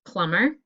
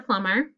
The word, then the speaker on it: plumber: to check your answers it should be mb for plumber just an m for stomach m n for column and m b for num okay erase and get